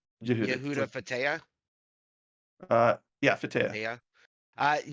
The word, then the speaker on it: Yehuda: However, Rabbi, you're gonna have to help me with these pronunciations. Actually, Yehuda, it's just like Yehuda? Judah. Yehuda, it's Yehuda.